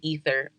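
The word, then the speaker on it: aether: i spelled a-e-t-h-e-r and i said oh it's pronounced ether no it is definitely ether i was definitely wrong and as you can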